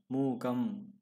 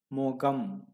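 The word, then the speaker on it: முகம்: going to be or if you pronounce it exactly how it is written it is going to be like mu mu gamma mu gum no however when you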